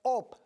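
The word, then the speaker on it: אוב: El vocablo pitón se extrae del hebreo op. Se pronuncia O y B larga. Op.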